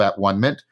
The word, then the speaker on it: atonement: very powerful sense of at one-ment. And I'm using that term rather than the usual pronunciation atonement, because atonement carries with it a lot of Christian baggage that isn't needed right now.